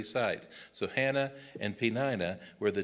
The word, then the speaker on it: Peninnah: The other one was Peninnah. Now, that's not how I would have said it, but I checked 2 or 3 sites. So Hannah and Peninnah were the 2 wives that he had.